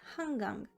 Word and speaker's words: 한강: 한강, meaning Han River, 한강, can be pronounced as 한강.